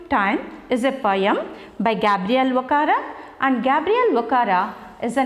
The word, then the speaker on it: Gabriel Okara: The writer of this poem is Gabriel Okara. How do we pronounce his name? Gabriel Okara. Gabriel Okara.